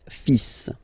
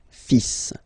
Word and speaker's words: fils: So it's le, and then even if you've got this L, well, basically you don't pronounce it, and then strangely you pronounce the final S. Le fils. Le fils.